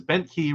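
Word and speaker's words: Bentkey: yes Tom SE says bent key rhymes with Disney um the the song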